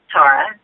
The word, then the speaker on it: Tara: Tara on the show, and that's how it's pronounced. But it's so true. I always say that I'm Tara.